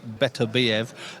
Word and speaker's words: Beterbiev: Now, with this guy, Beterbiev, as we're told to pronounce it, he's a kid that doesn't go looking for finishes, but finds finishes.